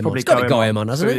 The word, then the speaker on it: Goemon: Goemon. How's it spelled? It is Goemon. I think it's probably Goemon, hasn't it?